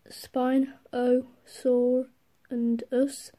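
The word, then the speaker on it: Spinosaurus: is how this is this is how to pronounce it's a spine spine Oh sore and us it's a carnival it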